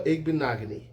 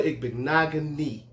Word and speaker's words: Igbinoghene: We have at the 30th pick, cornerback Noah Igbinoghene. All right? Noah Igbinoghene. All right? I said it, okay? I said it. Noah Igbinoghene.